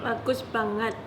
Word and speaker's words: bagus banget: Bagus banget.